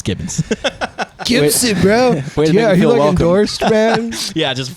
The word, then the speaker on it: Gibbons: special guest today is ethan gibson wow i'm kidding it's gibbons gibson bro yeah yeah